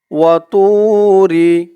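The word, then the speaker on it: وَطُورِ: উপরে বলতে হবে তু মুখটা একটু গোল হয়ে যাবে মুখটা একটু ভরপুর হয়ে যাবে এমন মনে হবে র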